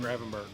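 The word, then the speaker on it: Gravenberch: Graven Gravenber.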